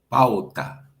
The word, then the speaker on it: pauta: How would you pronounce A-U in that particular word? Pau. Escucha. Pau. Pau. You would pronounce it pau. Pau. Not pau. Pau. Pau. Pau. Pau. So I shouldn't try to enunciate each letter, is what you're saying. No, you should pronunciate each letter, but it's just a smooth pronunciation.